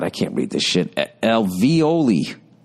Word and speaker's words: alveoli: For both men and women, breast tissue contains hollow cavities called, oh, God, I can't read this shit, alveoli. Pronounced alveoli.